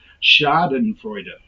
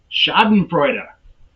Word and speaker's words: schadenfreude: word here schadenfreude schadenfreude i even have the pronunciation there and i messed that up chad and freuda schadenfreude what is schadenfreude who